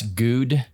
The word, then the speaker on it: Gude: it again g-u-d-e yeah so it's good no it's good it's not goody okay dude thanks for